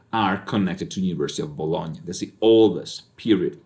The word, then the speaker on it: Bologna: bologna italy all right we're working on pronunciation here so it's not baloney all right not even when you're talking about meat it's bologna all right it's also